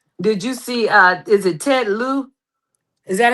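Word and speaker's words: Ted Lieu: did you see is it Ted Lou? Is that how you pronounce Yeah, that? Ellie? Okay, Yeah. Ted Lou.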